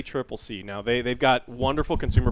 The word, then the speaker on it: ACCC: In Australia, so the ACCC, we were saying it wrong. It's not the ACC. It's the ACCC.